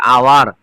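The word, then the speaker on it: hour: তাহলে এইচ আছে কিন্তু উচ্চারণ হয় না। ও এর উচ্চারণ শুরুতে হয়ে যাচ্ছে। আওয়ার সেইজন্য এখানে কি বসেছে?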